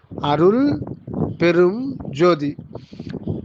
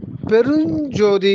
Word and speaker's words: பெருஞ்ஜோதி: அதுல வந்து மூன்று சொற்கள் இருக்கிறது அருள் பெரும் ஜோதி பெருஞ்ஜோதி அப்படின்னு படிக்கணும் அருள் பெரும் ஜோதின்னு அப்படி படிக்கக்கூடாது அதாவது ஜோதி வந்து அது எத்தனையோ